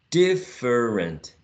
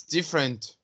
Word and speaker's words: different: In the next one, some people would say different. It's a different question. But in general, it's different. It's different, right? Different. 2 syllables.